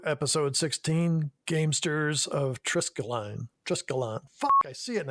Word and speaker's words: Triskelion: Triskelion.